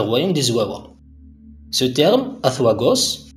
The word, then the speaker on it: Azuagos: Ce terme, Azuagos, qu'on peut prononcer en français Azuagos, semble être à cheval entre l'appellation arabe Zouawa et son synonyme kabyle Igawawen.